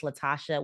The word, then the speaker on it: Latashá: It's Latashá with an accent on the A.